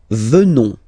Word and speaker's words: venons: Nous venons. Okay? O-N-S, classical ending for nous. Okay? Final S not pronounced. So O-N, on, venons, venons.